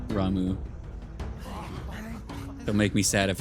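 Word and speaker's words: Ramuh: portion of the icon Rama's Essence I keep saying Rama ramu they pronounce it by tuning with ramu not only changes the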